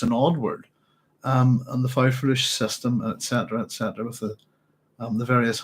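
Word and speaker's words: faufreluches: I've been doing a bit of reading, and I think also I would be pronouncing it wrong. That it should be fauvrelux, and in fact there is a French word which is fanfreluche.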